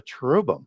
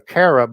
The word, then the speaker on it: cherub: You'll have a cherub, which is just a different pronunciation of the ch as we do, as in the original ch is in a k in the Mesopotamian pronunciation there, as opposed to an h sound in Hebrew, where it's typically pronounced